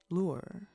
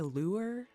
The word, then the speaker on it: lure: Lure. Sorry. Sometimes I say lure like sewer, but I think the word is lure, like one syllable. Um, to me it has two syllables.